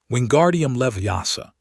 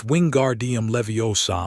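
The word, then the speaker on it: Wingardium Leviosa: Wingardium Leviasa, Ron said, waving his arms like a windmill. You're saying it wrong, Hermione said. It's Winguardium Leviosa. Make the gar nice and long.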